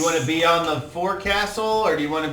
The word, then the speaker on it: forecastle: to be on the forecastle or do you want to be on the decking in front of the forecastle i'll be on the fuxel sir that's the proper pronunciation and where is that